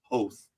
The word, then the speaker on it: Hoth: George Lucas said that we are all pronouncing Hoth incorrectly. It's Hoth.